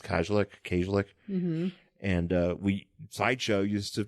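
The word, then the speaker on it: Kajlich: I always say her name wrong. It's Kajlik.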